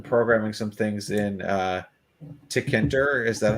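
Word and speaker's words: Tkinter: know you've been programming some things in uh tickenter is that how we pronounce it i had to look that one up again too it's apparently pronounced tk enter and i've heard about it for a while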